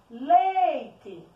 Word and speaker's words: leite: Leite. Qual é a sílaba tônica da palavra leite? O lei.